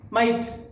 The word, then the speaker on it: might: G is silent here.